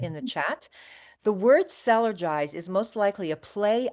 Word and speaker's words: Cellergize: The word sellergize is most likely a play on the words energize and energize ourselves. So, it's sellerize just to get the pronunciation.